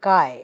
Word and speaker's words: Chi: a famous letter called Kai it is the it's written as Chi like this but its pronunciation is Kai so Kai Square we